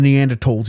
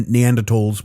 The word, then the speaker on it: Neanderthal: There's a couple of Neanderthals in a cave, and it's actually pronounced Neanderthal, not Neanderthal.